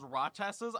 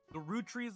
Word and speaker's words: Roottrees: I was pronouncing it as Rochester's. I don't know why. The root trees are dead.